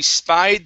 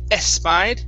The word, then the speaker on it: spied: Next up is, okay, she spied the vehicle. So, focusing on the SH here, the SP, so we don't want to say espied, okay, and then the V sound.